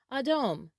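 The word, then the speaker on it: אדום: colors is in hebrew the color red is pronounced adom adom adom or red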